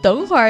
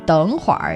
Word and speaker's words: 等会儿: 等会儿 is it's a northern 儿化音 thing. It's roll your R's kind of thing.